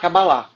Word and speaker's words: Kabbalah: Ah, Cabalá. Ok, ok. Kabbalah. Aí tem é como se fosse um Tem um, Rzinho, quase. né, Cabalá. Mas é meio mudinho, assim, não é muito Cabalá. pronunciado. Enfim.